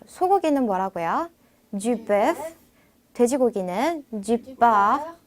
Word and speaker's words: du porc: 다시 한번 du porc. 자, 딱 봐도 영어에 약간 포크랑 비슷하죠. 그래서 그거 생각하시면서 프랑스어로 돼지고기는 du porc라고 합니다. 뒤에 이 영어의 C 발음은 안 하시는 거예요. 그래서 뻐라고 하시면 됩니다.